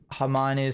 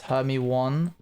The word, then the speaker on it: Hermione: You're one of those guys that pronounce Hermione Hermy one before the films, aren't you?